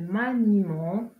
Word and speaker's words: maniement: Il s'agit généralement d'un E. Exemple, le dévouement, le maniement, le paiement. Dans ces exemples, on ne prononce pas la lettre E.